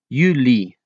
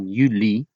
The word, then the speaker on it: juli: Yanuari, January, February, February, March, March, April, April, May, May, Uni, June, Julie, July. Always pronounce the L very well since Yuni and Yuli are so close.